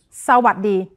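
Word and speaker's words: สวัสดี: So, all together. Sa. Sa. Wat. Wat. Di. Di. Sawat di.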